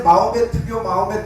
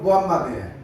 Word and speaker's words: 무함마드: 그런데 이 사람이, 우리는 학교 다닐 때 마호메트교 뭐 이런 소리 했잖아요. 마호메트는 터키식 발음이에요. 그 사람들 발음은 무함마드예요.